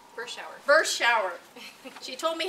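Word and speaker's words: Berschauer: At my left is Lindsay Bauscher. Bershauer.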